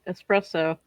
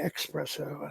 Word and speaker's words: espresso: always forget something yeah at least you say it right a lot of the idiots around here say expresso I'm like there's not an X in it no there's not an